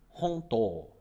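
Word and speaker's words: 本当: E ela se pronuncia honto, honto. Presta atenção nesse prolongamento aqui, ó. Honto, honto, ok?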